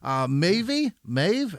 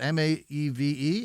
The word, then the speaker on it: Maeve: Christina Kerrigan, Rebecca Lufenberger, Maeve, how do you say that? M-A-E-V-E? Is that Maeve? Did we settle on that yet as Americans? Because that's I think we're going to Maeve. Let's go Maeve.